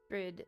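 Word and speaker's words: Bríd: Brid is an Irish version of the name Bridget, a famous famous Irish saint. It's pronounced with a long e, similar to the English word for breed.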